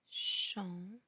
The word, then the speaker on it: champ: champ, cou, loup, trop, drap. La règle est que le P en fin du mot ne se prononce pas.